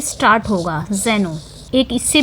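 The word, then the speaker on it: xeno: है और यह जो जेन होता है एक्स ई एन ओ यह आपका फॉरेनर होता है तो यह दोनों दोनों ही याद रखना है दोनों जगह हम प्रोनाउंस करेंगे जेनो का ही ठीक है तो यह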